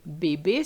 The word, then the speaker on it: bébé: So we have the first accent, for example, the accent aigu, acute accent in bébé. So whenever you see this E with such an accent, think of the word bébé, baby.